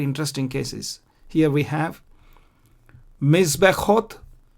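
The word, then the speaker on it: מזבחות: See, I don't pronounce the Shwa here. Mizbechot, I pronounce this Shwa, the blue one. I don't pronounce the red one. Mizbechot, Mishpechot. Mizbechot is altars and Mishpechot is families. Why do I pronounce the blue one? Because before the blue one comes the red one. When there are two shwas, one after the other, you don't pronounce the first, you pronounce the second.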